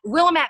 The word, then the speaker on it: Willamette: Willamette Valley.